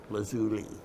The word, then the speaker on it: lazuli: variety of what mineral lapis lazuli and that's actually the way it's supposed to be pronounced lazuli lapis lazuli has been